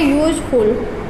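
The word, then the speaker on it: useful: यहाँ पे भी इंग्लिश में हमारा यू जो है वोवेल्स होता है, बट हम जब इसका प्रोनाउंसिएशन करते हैं तो ये कैसे साउंड करता है, कॉन्सोनेंट साउंड करता है, य से स्टार्ट होता है।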